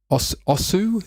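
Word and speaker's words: osu!: is my mic on yes it is uh osu is how you pronounce it it's a rhythm game it has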